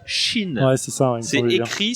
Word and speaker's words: Qin: crois qu'on prononce pas Kin mais autre chose non on prononce pas Kin ça c'est la prononciation à la Gandalf et la vraie prononciation c'est Chine ouais c'est ça c'est